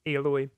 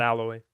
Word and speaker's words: Aloy: this might be the game Aloy. that does it well. Yeah, That's how dude. they pronounce her name weird. Aloy, Aloy. Aloy. not Alloy.